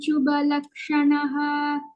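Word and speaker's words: शुभलक्षणः: Lakshmivan shubhalakshanah. Shubhalakshanah. Both are mahapranah.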